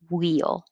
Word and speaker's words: wheel: there because somebody asked do you say the airflow for the h like wheel and i use the example of the tv commercial with wheat fins and no we don't use the extra air that we used to i mean ages ago but not anymore it's just wheel and wheat 13 and 14 and